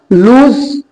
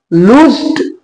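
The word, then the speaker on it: lose: দেখো লুজ, লুজড, লুজড। তো V2 আর V3 তে কোনো সমস্যা নেই। এইবার দেখো পরেরটা, উচ্চারণটা কিন্তু লুজ, অনেকেই ভুল করে লস বলে, উচ্চারণটা লুজ।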